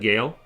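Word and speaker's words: Guile: It's pronounced more like it's more pronounced like Gale.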